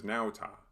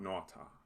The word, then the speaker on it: nauta: remember here is that the diphthong a u has an ow sound not an aw sound so this is nauta and not naughta try this word it